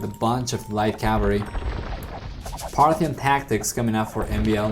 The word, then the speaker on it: Parthian: I learned how to say Parthian tactics. I don't know why I always say Partian tactics, but it's Parthian, apparently.